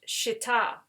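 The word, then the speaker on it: shittah: it's actually it's an arabic word and it's pronounced shita so it's shita wood but today we call it acacia wood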